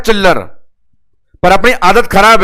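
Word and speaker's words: Schiller: दिया आप लोगों ने सिलर टेस्ट। इसको एक बार पढ़ना थोड़ा इंटरेस्ट लगेगा एस को साइलेंट करके। एस साइलेंट कर दे तो नालायक का नाम आता है चिल्लर।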